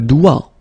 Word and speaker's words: doigt: Okay, so don't be frightened by this G, because basically you don't pronounce it, and then the final T you don't pronounce it. So the only thing you get to pronounce is this combination of three letters, sorry, here, D, O, I, okay? O, I, it's wa, and then D, doigt.